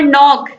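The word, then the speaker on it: knock: तो इन सब में के क्या है? साइलेंट है, के का उच्चारण नहीं हो रहा।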